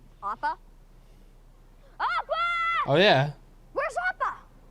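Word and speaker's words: Appa: are you I'm a they said it right opa opa oh yeah where's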